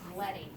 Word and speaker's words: leading: But you also have a box where it says leading, but it's actually, in graphic design, it's actually pronounced leading.